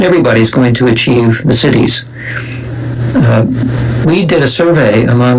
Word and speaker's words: siddhi: going to achieve the siddhis. We did a survey among 1,000... By the way, you should probably spell that, because it sounds like you're saying city, C-I-T-Y, but you're not.